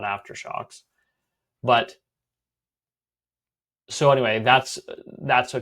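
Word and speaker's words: AfterShokz: But when I first saw them on Amazon, it was called Aftershocks, but it's spelled after SHOKZ, and misspellings kind of reflectively make me cringe.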